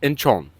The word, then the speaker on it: Incheon: Again, that's Incheon, South Korea. Pronounced Incheon.